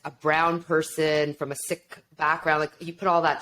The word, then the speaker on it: Sikh: so I am a sick and when I say sick my faith is called Sikhism or Sicky oftentimes in the US and Canada we hear it pronounced as seek and Sikhism we're trying